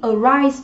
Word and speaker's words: arise: Arise, đây cũng là một động từ có hàm tiết theo quy tắc trọng âm cũng dương tiết thứ hai đúng không ạ?